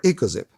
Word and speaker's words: EcoXiP: up to 600 megahertz a perfect fit for echo zip the Edisto echos it is a 1.8 for